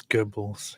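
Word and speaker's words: Goebbels: say geres yeah Joseph gurbles isn't that how you say it is it Gobles I don't know it's Gobles yeah Gobles oh okay one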